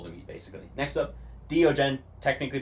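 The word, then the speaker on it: Deogen: that are impossible to meet basically next up Dien technically pronounced Dien it will always know where you are it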